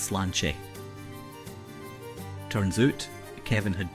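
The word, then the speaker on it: Sláinte: yet daed AG it it's pronounced Slane turns out Kevin had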